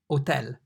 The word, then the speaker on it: hotel: H, the H in Italian is pronounced H, but be careful, it's always silent in Italian. So rather than saying hotel, you'd say hotel. So H, hotel.